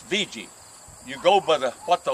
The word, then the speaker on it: Vega: It's spelled V-E-G-A. People say Vega, but local people say, it's VG.